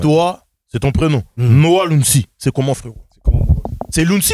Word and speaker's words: Lunsi: T'as bien prononcé Lunsi.